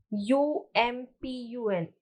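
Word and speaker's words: Amphan: the cyclonic storm amsterdam pronounced u-m-p-u-n um pun is extremely severe cyclonic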